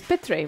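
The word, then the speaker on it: Pitre: my last name is p3 which rhymes with stingray so her she stingray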